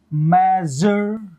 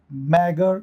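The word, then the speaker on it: measure: इज मेजर मेजर मेजर मैगर नहीं मेजर यह जो एस होता है ना यह वाला साउंड देगा मेजर प्लेजर ट्रेजर इन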